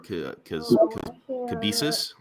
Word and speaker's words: Cabesis: He is the creator of Cabesis. That's what it's pronounced.